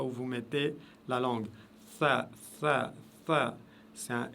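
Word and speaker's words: ثاء: Si vous regardez la lettre tha ici, elle se prononce avec la langue juste derrière les dents, vers le haut, les dents de devant et du haut.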